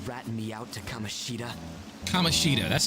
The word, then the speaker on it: Kamoshida: Kamoshida, that's how you pronounce his name.